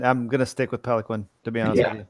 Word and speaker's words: Peloquin: Yeah, so the name is French Canadian. It's pronounced Peloquin, but I don't want to sound like a total douchebag. So I just go with Peloquin. It's so much easier.